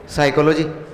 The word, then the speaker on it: psychology: साइकोलॉजी। ये क्या है? साइकोलॉजी अच्छा इसको हटा दिया तो अब तो देखिए ना क्या है पी साइलेंट है भाई साइलेंट है तो दिया क्यों साइलेंट